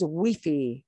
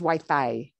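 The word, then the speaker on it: wifi: an espana say pronunciation in spain everybody says wiffy wiffy they make that very fanatic witty but in mexico it is very common to say it as wai thai wai thai like we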